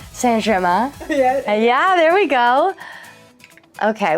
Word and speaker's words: Saint Germain: It's Saint Germain. Oh, see, that's where my pronunciation is wrong. Saint Germain.